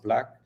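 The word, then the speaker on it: BLVCK: are backing one called black blv ck which is pronounced black and they already have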